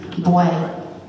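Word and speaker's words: bwè: I said B-W-A, it's B-W-E, boy.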